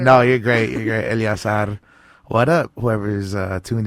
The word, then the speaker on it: Eleazar: say your name cuz I was saying El Asad and then you're like uh anyways my name is oh yeah no no it's elas elas that's my real middle name people